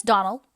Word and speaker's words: Donnell: dreams often as not as for that Donnell woman she'll get no Don nelling from me I can assure you the name is Donald and always has been the woman is crazy